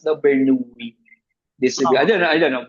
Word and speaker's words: Bernoulli: Bernoulli distribution daw ba? Yan, it's the Bernoulli. Actually, it's pronounced the Bernoulli distribution.